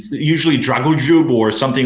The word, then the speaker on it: Dragoljub: We discussed this offline because Westerners can't say "lj." Yeah, it's pretty hard for them to. It's pretty hard for them to pronounce that. It's it's anything but Dragoljub. It's usually Dragoljub or something like that, which is hilarious for me.